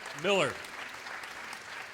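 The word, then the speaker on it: Mueller: Once again, Roberta Miller. It threw me off because it's spelled M-U-E-L-L-E-R.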